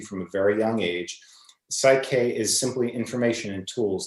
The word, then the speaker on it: PSYCH-K: p s y c h hyphen k it's pronounced psych k and it's essentially it's in the the group